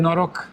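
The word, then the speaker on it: Noroc: Norok.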